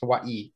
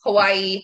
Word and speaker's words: Hawaii: 20 years so it's hawaii hawaii technically because the w is pronounced with a v if you're actually speaking hawaiian so okay man you